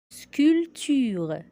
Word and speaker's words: sculpture: Sculpture. Le P est muet au milieu du mot.